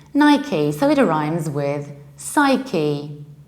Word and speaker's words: Nike: guesses these are two completely different word we pronounce it like Nike Nike so it arrives with psyche psyche Nike in